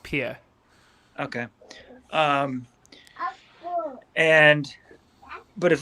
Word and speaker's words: Pierre: it's it's just it's pia it's spelt pierre but it's pronounced pia okay um and but